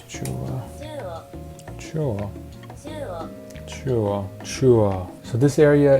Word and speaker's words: Chuo: How do you pronounce Chuo?